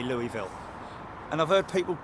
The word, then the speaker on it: Louisville: back to Louisville I'm going back to Louisville it's as simple as that not L I'm not American so I won't pronounce it like Americans do okay that's a big